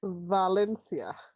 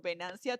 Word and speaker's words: Venancia: Valencia. Hey! I think it's Valencia. That's Am I gonna be your correct? new name. We're gonna just suddenly change your name from Venancia to Valencia.